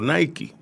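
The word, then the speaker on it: Naiky: Existe mi acta de nacimiento, Nike. N-A-I. I-K-Y. Eso es como se pronuncia, una onomatopeya.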